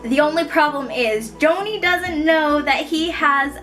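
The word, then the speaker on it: Joni: friend at work named Joanie I'm guessing that's how you say her name I don't think it's Johnny I think it's Joanie j o n i the only problem is Joanie doesn't know that he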